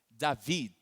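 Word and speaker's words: דוד: Seria pronunciar mais ou menos assim, David, um D um pouco mudo no final.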